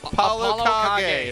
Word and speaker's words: ApolloKage: ApolloKage.